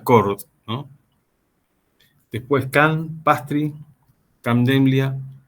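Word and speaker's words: Chord: Donde por ahí el más conocido, el que más se popularizó es el primero que aparece en esta lista, que se pronuncia Cord, ¿no?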